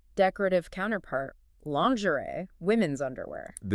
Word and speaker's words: lingerie: The N sound is the tricky part. Oh, so it's pronounced lanzuli, and you have to maintain that soft Z sound, similar to the middle